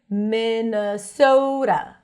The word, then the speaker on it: Minnesota: The T is a flap T here. Minnesota, Minnesota.